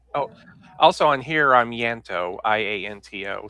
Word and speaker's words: Ianto: Some of you call me Lanto or Ianto. I thanks for letting me know. I appreciate that. Okay, how do I pronounce it It's correctly? Yanto. Yanto. Or you could actually say Ianto. Ianto. So the I is a hard I, like the Middle English I.